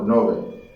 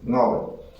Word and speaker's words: Ngäbe: Así es que muchas veces las personas se refieren a ese pueblo y dicen Ngobe o Nobe, pero lo correcto es Ngobe.